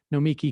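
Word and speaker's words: Nomiki: the supreme court also it's pronounced just like noma instead it's no miki const hope that helps where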